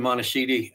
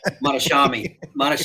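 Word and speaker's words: Mohtashami: If you listen to like Logan Monashidi, or however you say his name, Logan is just amazing to listen to. Yeah, Monashami, that's it.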